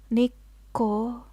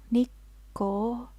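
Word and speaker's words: 日光: we can also say it's pronounced nikko nikko be careful of this small pause between the two sounds nikko the first candy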